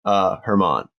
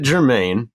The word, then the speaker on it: Germán: Well, I always get tripped up on Germán. So that's what set that one off. Because I was like, don't pronounce it Germain or German. Germain? Germán. That's not even how it's spelled.